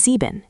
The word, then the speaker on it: sieben: Seven is sieben, seven. Sounds like sieben. Stress the first syllable.